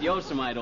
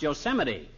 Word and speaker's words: Yosemite: No, not Yosemite, old-timer. That's pronounced Yosemite.